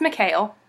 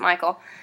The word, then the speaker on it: Michal: It's pronounced Mikhail, but we pronounce it Michael.